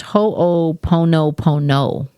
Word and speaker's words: Ho'oponopono: It says it's pronounced ho pono pono.